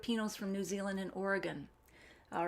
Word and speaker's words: Oregon: say willamette willamette and it's oregon not oregon i got i get